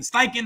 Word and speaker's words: Steichen: Steichen, that's how you say it, offensive coordinator.